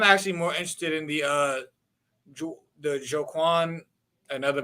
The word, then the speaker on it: Joaquin: It was one of them names that you know is spelled foul. I had to think of Cuz from the Joker movie to remember how to say my name right. Joaquin Phoenix.